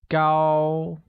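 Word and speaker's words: 高: let's begin with tall tall becomes go and carries a high level tone like go good hair translates as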